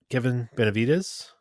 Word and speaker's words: Kevin Benavides: well but anyways the overall winner was uh Kevin Benavides I think it's how you pronounce it yep it is how you pronounce